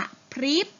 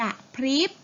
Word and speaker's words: กะพริบ: คำ แรก นะ คะ อ่าน ว่า กะพริบ อย่า กระพริบ สะดุด สะดุด ชะโงก ชะโงก